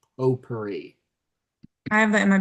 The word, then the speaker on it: potpourri: Spelled with a P-O-T at the front, but spelled or pronounced potpourri.